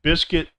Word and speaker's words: biscuit: So these are words with the silent U: biscuit, build, circuit, disguise, guilty, league, rogue, vague, guess, guest, guide, guitar, antique. So some of these words